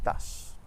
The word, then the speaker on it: tache: In English, the CH makes a ch sound, but in French it's always sh, like in the word bush or shingle. And in French we have champion et tache.